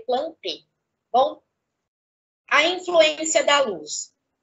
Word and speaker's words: plantae: Quando nós falamos de vegetal, estamos falando do reino, se escreve plantae, mas se lê plantei.